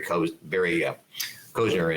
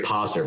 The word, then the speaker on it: Posner: because I kind of like that with Barry Kozner and James. Make sure I say it right. It's James Koshis and Barry Posner.